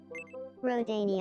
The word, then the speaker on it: Rodania: Rodania Island. Okay, hang on. They said like Rodania, like row a boat.